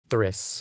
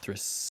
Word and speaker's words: Thriss: Is it pronounced Thriss? Thriss. Thriss. Yeah, Thriss. It's like the Nantuko Primus.